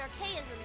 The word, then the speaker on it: Archaism: Seems they definitely more like orally powered archaisms than archaisms. You pronounce it archaism. Oh, okay. So, these are arcisms.